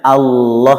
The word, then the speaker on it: Allah: Mestinya Allah itu pakai lam. Allah itu pakai lam. Cuman karena dia lafzul jalalah yang berhukum taghlid sehingga lidah bagian belakang harus dinaikkan, diangkat.